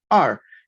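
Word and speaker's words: 二: 2 anteriormente comentamos que el número 2 en chino se pronuncia como art y se representa con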